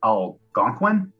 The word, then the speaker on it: Algonquin: first nation myself but the anguan peoples elusive pronounced algonquin thank you edit this purse out please algonquin